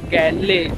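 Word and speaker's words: Galle: मिरिसा के बीच में गले स्पेलिंग के मुताबिक जी ए एल एल गले होता है और यहां के लोग गल बोलते हैं तो यहां का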